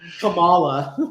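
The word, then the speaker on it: Kamala: you know presenting it it's comma like the punctuation law exact easy to remember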